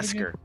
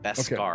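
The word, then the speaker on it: beskar: Besar. Okay. So, they didn't say that for sure. Besar. Bescar, I think is how it's pronounced.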